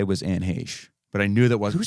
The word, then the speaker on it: Heche: If you saw her, there's no way that's how her name is spelled. Heche.